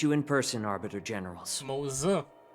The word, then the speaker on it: Moza: Moza. I've been pronouncing him just Mose. You know, the Simpsons character.